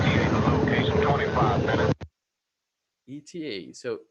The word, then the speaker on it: ETA: Okay, So it's also not pronounced as a word. It's letter by letter. ETA.